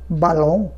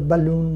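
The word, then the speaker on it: ballon: লি মানে বিছানা বেড, আবার ডাবল এল দিয়েও আসতে পারে বালং বালং বিএল এল ও এন বালং বালং, আমরা বালুন বলি ইংরেজিতে বেলুন বালং।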